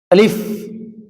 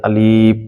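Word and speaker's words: ألف: সাথে উচ্চারণ করবেন আলিফ আমরা অনেকে আলিফ টা টান দেই আলিফ এরকম লম্বা হবে না আলিফ টা স্পষ্ট হবে তাড়াতাড়ি হবে আলিফ বা হবে ঠোঁটের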